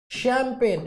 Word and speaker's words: champagne: तो जब मैंने कहा ये वाला चैंपियन तो चा साउंड आ गई भैया, शैंपेन शा साउंड आ गई, ठीक है, केमिस्ट्री का साउंड आ गई, और ये क्या है, शैमिस।